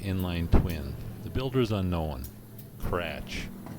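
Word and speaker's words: Kratzsch: twin the Builder's unknown cratch spelled k-r-a-t-z-s-c-h I had to spell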